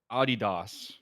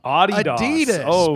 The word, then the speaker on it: Adidas: I'm not sure not did you say Adis it's a adidos yeah adidos man Adidas adidos Adidas wow going with the old like the German cuz it's named after